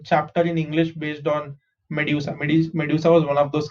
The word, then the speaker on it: medusa: How do you pronounce this? M is May, D-U is dew, S-A is sa, medusa.